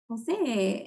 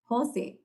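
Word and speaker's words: José: by jose not jose that's the accent's on the o no even that was different because when i first met him i was like jose and he's like jose and i'm like jose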